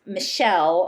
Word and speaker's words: Machaelle: and she This woman, her name is Machaelle, although it's spelled m a c h a e l m a c h a e l l e Machaelle Small Wright, and she